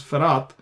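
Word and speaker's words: פרת: here you can see farat p-h-r-a-t frat that's the name farat far out in Hebrew uh well here it is the dot is not there so we pronounce farat but actually of course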